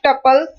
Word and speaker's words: tuple: You can think of tuples pronounced as tuple rhyming with couple.